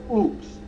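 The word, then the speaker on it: Ochs: baz contends her favorite folk singer is Phil oops that's spelled o c HS the other day when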